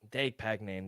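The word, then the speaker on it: Despaigne: Now, how would you pronounce his name? Robelis Depagnane. Depagnane.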